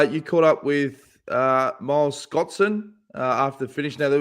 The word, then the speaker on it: Scotson: Here's Miles Scotson after the finish. And also, I pronounced his name properly. I think I typed it as Scott Sand, S-A-N-D, not Son.